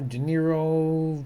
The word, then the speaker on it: De Niro: Rhymes with gyro, De Niro.